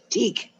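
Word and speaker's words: Thích: And it's one that THN, how do you say his name? Anyone? Throw that in there. Teak. Teak. Wait, what? It's pronounced teak. It's teak.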